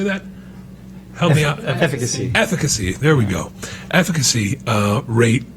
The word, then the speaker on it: efficacy: Efficacy.